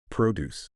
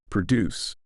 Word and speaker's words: produce: this concept to English think of the word produce when stress on the first syllable produce it refers to fruits and vegetables but when the stress shifts to the second syllable produce it means to create while English relies on